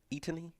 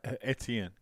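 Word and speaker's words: Etienne: it say his name how do you pronounce his name Eon eony no eten eten yeah his brother plays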